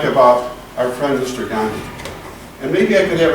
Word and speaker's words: Gandhi: Also, how do you spell Gandhi? Gandhi? Who knows how to spell it? Go ahead. G-A-N. Oh, no, wait. No, one N, and then it's D-I. D-H-I. There's an H in there, a silent H.